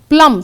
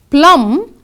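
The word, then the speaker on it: plumb: Plum, see the next one. Plum, the homophone P-L-U-M-B is given because B is silent.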